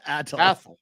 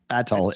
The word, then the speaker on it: Athol: Atoll. Atoll. Age of silence. Like something different, Will. Atoll. Just so we can say it with our chest. It sounds like asshole, but it says Atoll.